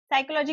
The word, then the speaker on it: psychology: साइकोलॉजी में पी एस पी एस यहां पर एस भी सा है। साइकोलॉजी पी मतलब पी मेनली यहां पर साइलेंट है।